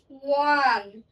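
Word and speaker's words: one: কিন্তু এখানে ও এর উচ্চারণটা দেখেন, ওয়ান ওয়ান।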